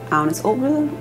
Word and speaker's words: Agnes Obel: I am Agnes Obel, that's how you say it in Danish.